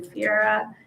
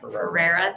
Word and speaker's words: Ferreira: Yeah, so our elementary secretary, Allison Fiera, has, did I say it incorrectly? Ferreira, thank you.